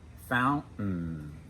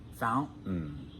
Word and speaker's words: fountain: Mountain, fountain. Notice that when we pronounce those words in American English, for most of us, we don't pronounce the T. It's a stop. Mountain, fountain.